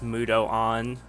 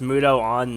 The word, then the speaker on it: Mudoon: And yes, it's pronounced Mudo on, not Mudoon. Like, nobody seems to know that. Like, everybody always pronounces those skills like, you know, Mamadoon. But no, it's Ma, Mudo, on. It's a prefix and a suffix.